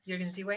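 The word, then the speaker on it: Jürgen Ziewe: Is that how you Yes, pronounce his name? Jürgen Ziwe.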